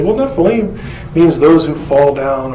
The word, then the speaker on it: Nephilim: constant of the devour this spelling is the ancient way of telling us that this is how you say the word Nephi Lim and therefore it cannot